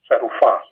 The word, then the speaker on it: serufah: So that's serufah. And as you'll notice, it's accented on the last syllable.